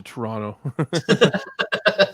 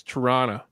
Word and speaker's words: Toronto: So I've never even been to Toronto. That's how we pronounce it here, is Toronto. Okay. We don't say Toronto. We say Toronto. That's Toronto. It's Toronto, eh? That's how we Canadians say it.